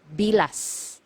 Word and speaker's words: bilas: one sister-in-law sister-in-law is bilas bilas so you have to be very careful with this one M hiala you have to pronounce the letter S at the end because if you mispronounce